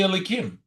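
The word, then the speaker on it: Elokim: it's spelled Yud Kei Vav Kei written, but it's spelled Elikim, and it's pronounced Elikim when we do it.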